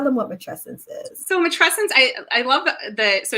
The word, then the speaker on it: matrescence: how to say it so it rhymes with adolescence so that that helps people sort of you know figure out how to say it um and it's very